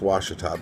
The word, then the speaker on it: Ouachita: you know you the Appalachians the Ozarks the Ouachita Mountains washed up spell Oh ACH ITA but it's pronounced wash atop but they seem like older mountains to me